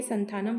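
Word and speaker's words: Santhanam: sector banks आगे है के संत के संथानम के संथानम ही प्रोनाउंस होगा के संथानम जो कि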